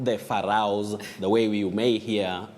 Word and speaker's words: Pharaoh: Betty, in English, Yeah. we say Pharaoh. Pharaoh. That is in English. Okay. You'll hear of Pharaoh or Firauni Yes. in Kiswahili. But when you come to English, it's Pharaoh.